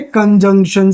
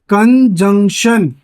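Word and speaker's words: conjunction: ये आते हैं हमारे कंजंक्शन से। कंजंक्शन, इसकी जो सही प्रोनाउंसिएशन होती है that is known as कंजंक्शन। कंजक्शन नहीं होती कि इंजेक्शन सा फेंक के मार रहे हो, कंजंक्शन।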